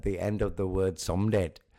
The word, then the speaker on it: Somdej: end of the word Somdet, it's not pronounced as a J. It becomes hard, like a T or a D.